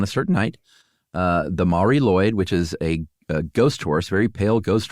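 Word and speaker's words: Mari Lwyd: about what's known as the Mari Lloyd, which is not spelled like it sounds, at least not the second part. It's L WYD. And that is Welsh.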